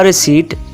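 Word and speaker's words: receipt: could I have a रिसीप्ट could I have a रिसीप्ट क्या मुझे इसकी रसीद मिल सकती है यह दोस्तों रेसीटर इसमें पी साइलेंट है सो दैट इज इट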